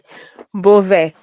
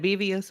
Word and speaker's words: Beauvais: How do you say her last name? Unibu. Sorry. Beauvais. Beauvais. How did I say? Beauvais. I said Bevius.